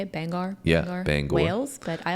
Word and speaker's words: Bangor: I think that's how you say it, Bangor.